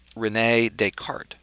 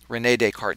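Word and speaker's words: René Descartes: was a thinker named Renee deart re NE with an accent and d s c a r Tes but silent s Renee deart he was a French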